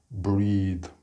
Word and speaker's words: breathe: Also note here, the breath is the noun, but the verb has a ni, and the end is pronounced breathe, the longer vowel sound.